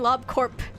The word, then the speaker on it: Lob Corp: I need to start saying lob corp. I need to start saying the P at the end of it, but I'm so used to saying like core that like it's so ingrained into me.